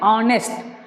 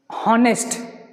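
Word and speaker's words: honest: ऑनेस्ट देखते ही आपके मन में आ जाना चाहिए कि यहाँ पर एच साइलेंट है, इसको हम पढ़ते हैं ऑनेस्ट, नॉट हॉनेस्ट, ऑनेस्ट पढ़ेंगे, क्या पढ़ेंगे, ऑनेस्ट, हॉनेस्ट नहीं पढ़ेंगे, ऑनेस्ट पढ़ेंगे।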